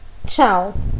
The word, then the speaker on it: ciao: Então, a palavra que está escrita aí em cima, nós leremos ciao.